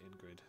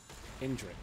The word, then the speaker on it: Indrik: one and then fight Ingrid. Is that his name? Ingrid? I always get his name wrong. Indrik. That's what it is, not Ingrid.